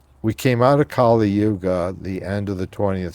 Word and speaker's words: Yuga: Am I pronouncing that right? Yuga? Yuga, uh-huh.